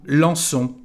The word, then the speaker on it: lançons: So the problem here, as you can see, is the letter O, and to keep the same pronunciation, to make a S with this C, we need a cédille.